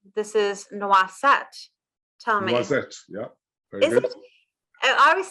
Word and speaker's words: Noisette: Noisette, yeah. Very good. I was thinking, so the way that I'm pronouncing it is NWA, Noisette.